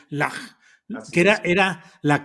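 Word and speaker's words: Llach: Lach, pronúnciese, si se pronuncia como Bach sería Lach, Así que es.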